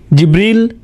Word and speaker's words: জিবরাঈল: আপনি কিভাবে জিব্রাইল আলাইহিস সালামের নাম বলেন কিভাবে উচ্চারণ করেন তার নাম জিবরীল জিব্রাইল জিব্রাইল জিব্রাইল জিবরীল এই পাঁচ ভাবে তার নাম উচ্চারণ করা হয় আর এটা বিভিন্ন কিরাতের